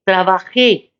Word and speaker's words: trabajé: Y por cierto, el que me comentó, trabaje pastor, debería de tener más cuidado en la acentuación de la palabra, porque escribió pastor, trabajé. No tuvo cuidado que había un acento en la E, trabajé.